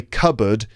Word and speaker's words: cupboard: And by the way, cupboard is spelt C-U-P, cup, and then board, B-O-A-R-D, but it's pronounced cupboard.